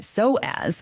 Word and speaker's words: psoas: Your soas, and most people pronounce it soas, is a long, deep muscle that runs from